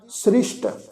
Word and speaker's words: सृष्ट: सृष्ट इस शब्द विच साध संगत जिहड़ा विचकार ससा लगा होया उस दे पैर विच बिंदी लगा के पाठ उच्चारण करना वा जी सृष्ट।